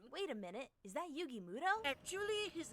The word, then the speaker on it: Yugi Muto: Wait a minute, is that Yugi Muto? Actually, his name is pronounced Yugi Moto.